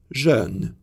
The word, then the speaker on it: jeune: French has vowels e and e that do not exist in English. These words sound as jeune, jeune.